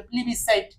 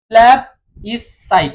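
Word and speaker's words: plebiscite: আমি আজকে দেখে নিয়েছি প্ল্যাব ই সাইট মানে এখানে এখানে হাইপেন আছে কিন্তু হ্যাব সাইট সাইট এই তিনটা ভাগ করে এটাকে উচ্চারণ করতে হবে ঠিক আছে 38 নাম্বারটা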